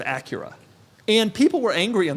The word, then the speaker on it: Acura: And I want to start with the pronunciation of Acura. Yes. Last week on the pod, I said Acura instead of Acura.